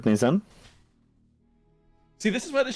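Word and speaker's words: Nayzan: Okay, I've written that roughly phonetically. I've written it in the chat. Oh, amazing. Nazan, thank you. Nazan, N-A-Y-Z-A-N.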